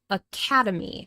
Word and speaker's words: academy: This word has four syllables. A Oh, this it called syllable. Okay. It called syllable. I mean different sound pattern. Aadi. Aadi. And we know this because there are four vowel sounds. And the second syllable is stressed.